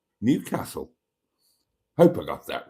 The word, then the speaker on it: Newcastle: Now, I would pronounce it Newcastle, but as I understand it, the locals would pronounce it Newcastle. Newcastle.